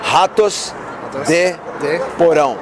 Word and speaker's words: Ratos de Porão: You mean the pronounce? Yeah. Ratos de Porão.